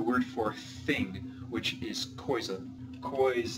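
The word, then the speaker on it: coisa: for thing which is KOA KOA remember in the pronunciation there is the oi which is non-nasal now some examples of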